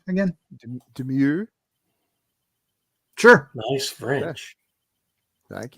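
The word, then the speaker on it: Domergue: How do you pronounce her last name again? Demure.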